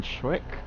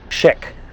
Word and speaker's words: Schick: I think it's Jeffrey consistently calls it chic even after telling him how it's pronounced repeatedly.